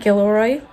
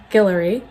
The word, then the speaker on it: Guillory: that with jasmine guillory i always said gilroy that is incorrect i will say her name right it's jasmine guillory so excited to get her